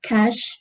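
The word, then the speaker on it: cache: For example, the chache, but it's supposed to be pronounced as cash, and she elaborated well where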